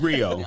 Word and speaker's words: griot: first time hearing um how you say it griot yeah it's rio um it was oh